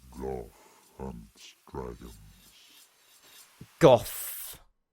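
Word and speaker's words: Gough: Goth is his pronunciation, is his name.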